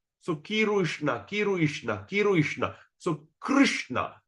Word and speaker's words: Krishna: that's the real pronunciation Krishna Okay. Krishna. So when we sign how you going to pronounce. So Kirishna. Kiruishna. Kiruishna. So Krishna. So key and R. You just combine the word K and R.